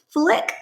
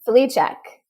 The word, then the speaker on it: Flicek: CEO Chief Executive Officer of feeding matters flick did I say your last name right Fleck I butchered that yep who is the programs and